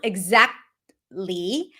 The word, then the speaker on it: exactly: So you can pronounce exactly but it's a health t. So you don't really hear it. Exact. Exactly. The t is held so you don't hear it.